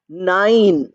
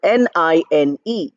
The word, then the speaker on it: nine: but here you have nine you have the word n i n e i is written but it's not pronounced as nin or n it is pronounced as nine but you have a